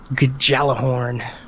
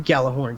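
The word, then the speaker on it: Gjallarhorn: horn thank thankfully it Auto thankfully Google can G jalah horn like people were really calling it that and then like the pre-order video said get the iron Galah horn skin that you know whatever you know and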